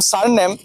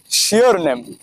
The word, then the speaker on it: surname: আমি যে বললাম স্যার নেম তিনি এটার উচ্চারণ করলাম হচ্ছে শিওর নেম।